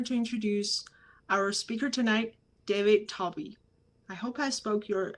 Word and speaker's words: David Talby: it's my honor to introduce our speaker tonight david toby i hope i spoke your i i pronounced your last name correctly yep okay great